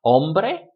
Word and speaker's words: hombre: make it plural, leyes, still stressed on that syllable. Hombre, man, make it plural, hombres, doesn't change.